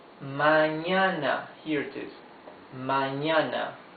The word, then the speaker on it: mañana: Mañana. Look at the spelling. M-A-Ñ-A-N-A. Ñ is this N with a wave on top, yes?